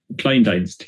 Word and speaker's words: Kleindienst: How is pronounced? Kleindienst, it means small service in German, Okay.